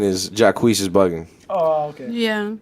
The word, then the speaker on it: Jacquees: How do you even pronounce his name? Jacquees.